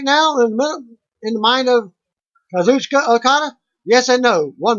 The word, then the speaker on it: Kazuchika: Kazuchika has an I and silent, as it's spelled Kazuchika. Okada. So it's Kazuchika.